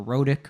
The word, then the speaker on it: rhotic: With a strong, what we call erotic or rhotic R, I think is actually how it's pronounced, a rhotic R.